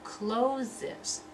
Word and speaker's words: closes: sound, and this one, closes. Closes, the verb, has two syllables.